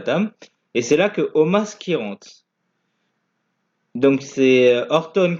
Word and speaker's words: Omos: Bro contre Styles et Omas, parce que ça s'écrit Omos mais ça se prononce Omas.